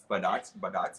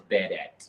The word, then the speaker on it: Budat: Budat. Get that right, guys. It's Budat.